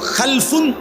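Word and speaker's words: خَلْفٌ: generation দুই রকম হয় আরবিতে একটা হল খালফুন আরেকটা হল খালাফুন একই শব্দ শুধু উচ্চারণের মধ্যে একটু ভিন্নতা মাঝখানে একটা লাম আছে এই লামটার মধ্যে যদি সাকিন হয় তাইলে হল খালফুন আর যদি লামের মধ্যে জবর হয় তাহলে হল খালাফুন আরবি শব্দ এ খালফুন মজিদ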